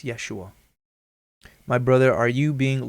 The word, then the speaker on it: Yeshua: right we know but you're saying his name wrong it's yeshua my brother are you